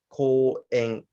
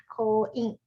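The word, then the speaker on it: 公園: Um, it, it's ko, ko u en, Ko-ing, ko en, poet, ko en, ko-ing. en. You have to close your lips. Okay. Aing, Ko en, ko-aing, ko en. ko-ing, It's not ing, it's en. aing.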